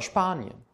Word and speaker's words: Spanien: S und P zusammen wird wie ein SCHP ausgesprochen. Zum Beispiel der Sport oder Spanien.